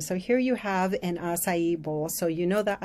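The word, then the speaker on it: açaí: So here you have an acai bowl. So you know that the acai, or some people pronounce it acai, is a berry, one of the richest in antioxidants.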